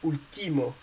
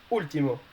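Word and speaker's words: último: an accent above uh because if you don't put any accent above the u you you will pronounce ultimo and we don't want to pronounce ultimo or ultima with one in spanish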